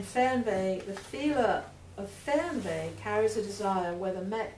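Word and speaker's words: Fernweh: ache for distant places how do you spell that word f f r n like Fern and then V is w and zuk is senen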